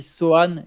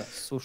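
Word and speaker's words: Sochan: Pourquoi on dit Sohan et pas Sochaux? Parce que c'est du polonais. C'est un nom de famille polonais et en polonais, on ne prononce pas le C devant le H dans ces circonstances-là.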